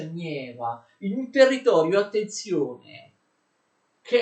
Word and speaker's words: Neva: Lui realizza in pochi anni un'immensa città sul Mar Baltico, alle foci del fiume Neva, che si scrive Neva e si pronuncia Nieva, in un territorio, attenzione, che era di sovranità svedese, quindi non avrebbe neppure potuto farlo.